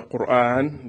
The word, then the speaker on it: Quran: that the Quran and I will say the Quran because this is the Arabic pronunciation of the theorem is